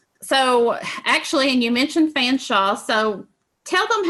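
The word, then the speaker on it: Featherstonhaugh: So actually, and you mentioned Fanshawe, so tell them how his name is spelled.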